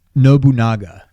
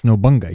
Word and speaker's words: Nobunaga: it was it's not NOA what did I spell it wrong it's Nobunaga that's not how you spell it no that's noonga you're missing an a I'm pretty sure it's